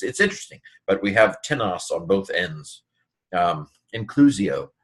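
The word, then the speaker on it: τίνος: Notice we have the same form tenos, very interesting here, but with the accent on the first syllable, it's an interrogative pronoun.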